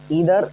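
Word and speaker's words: either: देखिएगा ध्यान से, ईदर, अब देखिए आइदर भी पढ़ते हैं कुछ लोग, ईदर भी पढ़ते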